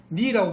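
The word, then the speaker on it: knee: 그래서 무릎도 니라고 부르는데 K가 원래 있었단 말이에요. 있는데 발음이 안 되잖아요.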